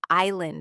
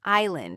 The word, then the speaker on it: island: Or think about silent letters in words like island and castle. Why is there an S in island if we don't pronounce it?